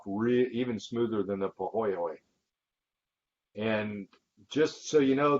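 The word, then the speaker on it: pāhoehoe: like the bottom part of this picture it's pronounced pohoy okay and then the third is what's called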